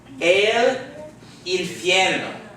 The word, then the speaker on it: infierno: So to pronounce this word, we're going to say el, not el, but el. Remember the A-E-I-O-U? El infierno. El infierno.